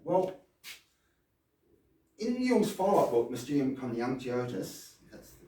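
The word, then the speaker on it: Mysterium Coniunctionis: Well, in Yung's followup book, Mium Kanyotus, that's the correct pronunciation.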